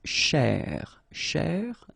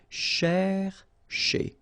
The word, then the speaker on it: chercher: So this first part here, C-H-E-R, you will pronounce it quite open, so it's cher, cher, okay? And then here, just because you've got this ER at the end, okay? If you remember, the rule goes like ER at the end will be pronounced E, okay? So you get chez, all right?